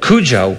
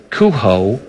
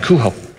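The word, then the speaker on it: Cujo: of the dog is kho it's a j with the Spanish pronunciation and it's mistifying to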